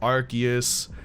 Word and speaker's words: Arceus: went out and said it's pronounced Arceus, so it's like, I'm going by the character. Yeah, I'm going by the official pronunciation.